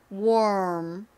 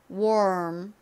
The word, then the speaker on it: warm: War War를 발음을 하다가 War 입을음 모양으로 물면서 발음을 합니다 해 볼까요 warm warm 이제 마지막 단어 발음과 의미 뭐였죠 8를